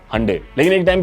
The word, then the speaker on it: Hyundai: Hande is the right pronunciation. India में लोग इसको हिंडाई बोलते हैं, बट हंडे इसको जनरली कहा जाता है।